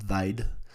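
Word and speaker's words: wyd: from the Africans word for wide which is pronounced vide it said that English settlers are explorers someone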